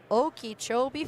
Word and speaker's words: Okeechobee: Okeechobee, Florida.